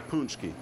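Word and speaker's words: pączki: Some say it's supposed to be punchki. Okay. Some say it's supposed to be punchki.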